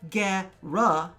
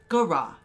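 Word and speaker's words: Gara: point out the spelling there is no e or accents on either of the A's that would change the way that they're pronounced so it is not get rough it is Gura gah rah hurrah next we have the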